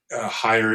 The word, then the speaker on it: Heyer: Um, again, if you're not watching this video, if you're listening to it, Higher is my last name and it's spelled H E R.